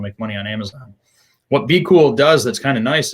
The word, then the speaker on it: BQool: We recommend Be Cool. So if you want to use a repricer, we recommend using Be Cool, and that's spelled BQOOL.